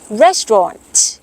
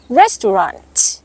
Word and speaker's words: restaurant: ค่ะ คำ นี้ สำเนียง อังกฤษ ออก เสียง ว่า restaurant restaurant สำเรียง อเมริกัน ออก เสียง ว่า restaurant restaurant ออก เสียง เป็น ชอต แบบ นี้ นะ